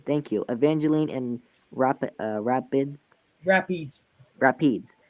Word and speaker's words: Evangeline: eveline and R how do you say that Evangeline evangelene thank you Evangeline and rap uh Rapids Rapids Rapids and Rapids